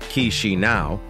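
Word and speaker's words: Chișinău: Few people are aware of its location in Europe, but Moldova, with its capital city Chisinau, pronounced Chisinau, is a hidden gem.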